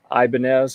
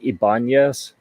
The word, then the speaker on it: Ibanez: some people pronounce it Ibanez um I think Ibanez may be the name of the guy that initially made the guitars but it's gradually morphed and been anglicized to Ibanez so that's what most